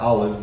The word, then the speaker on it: Olive: My dad's grandmother, Olive, it's spelled like olive, but her name is Olive, Chanda Alexis.